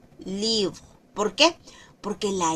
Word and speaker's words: livre: Entonces, es set libre, no es libro ni libre, sino que suena entre la o y la e. Livro. Livro.